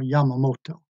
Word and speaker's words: Yamamoto: However, the oil embargo took the power of decision away from the Japanese admirals, in particular Admiral Yamamoto. That's spelled Y-A-M-A-O-T-O, Yamamoto.